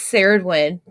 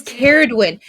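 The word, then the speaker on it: Ceridwen: thorns and roses and I thought it was seared when but it's carradwin and you know what I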